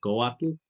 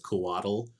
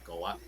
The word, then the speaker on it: Couatl: you pronounce it as Couatl, with like almost like you're saying waddle. That's fine. But if you wanted it to be more accurate, it'd be Couatl.